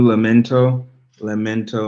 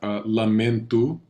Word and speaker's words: lamento: And let's have lamento. It's not an O sound. It's not lamento. It's lamento. Lamento.